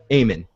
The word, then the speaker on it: Aemon: So we go to the library with Sam reading, and Meister Aman, is that how you pronounce his name? Aemon.